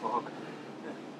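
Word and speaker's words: Phuc: His name is Fuck. Well, it's spelled with a PH, so it sounds like Fuck.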